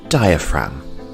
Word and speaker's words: diaphragm: And the G here is silent diaphragm.